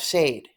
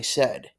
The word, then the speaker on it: said: they're thirsty tengo sed this word is pronounced I said I have said right and then for